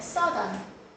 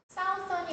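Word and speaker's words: southern: 북쪽 의인은 노던 남쪽 의는 서던 사우던이 아니라 서던이라고 읽어요.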